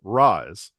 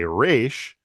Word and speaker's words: Ra's: So Raz is Arabic for head, like, and it's pronounced Raz. There's other translations of like similar languages that aren't Arabic that do say Raish, but because I've always